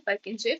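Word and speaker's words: Purkinje: तो इन वॉल्स तक जो पहुंचाता है इलेक्ट्रिकल इंपल्स को उनको बोलते हैं परकिंजे फाइबर या फिर पुरकिंजे fibres. Whatever you want to pronunciate.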